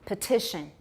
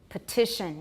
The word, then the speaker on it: petition: not stressed right better but for example petition petition no tap if the soul is